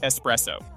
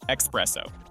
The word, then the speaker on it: espresso: resources to get you started just remember it's pronounced espresso not espresso please don't embarrass yourself Healthcare is another major